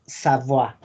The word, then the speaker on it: Savoie: Si se topan con una I latina con una E, es igual a una A. Una I con una E es una A en pronunciación. Por eso es Savoie.